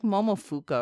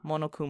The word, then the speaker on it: Monokuma: It's like Momofuka or something like that, but I feel like that's wrong. I think I butchered it. I'm sorry, everyone. But okay. Monokuma.